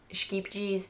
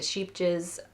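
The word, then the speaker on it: Scheepjes: And I think it's scapies. I've heard people pronounce this 7 million different ways. From skeepjes to sheepjes, scapies. I think it's something similar to scapies, because that is how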